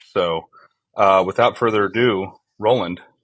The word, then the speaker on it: Roland: Mania himself uh can you give me the pronunciation of your name as I've never actually heard it spoken out loud Roland Roland okay awesome Roland um not many